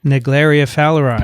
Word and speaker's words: Naegleria fowleri: research on, Vincent, do you know how to pronounce this? Naegleria fowleri.